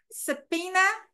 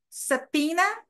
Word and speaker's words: subpoena: Subpoena também é uma palavra bem difícil de se soletrar. S-U-B-P-O-E-N-A. Tem o B, mas o B também é mudo.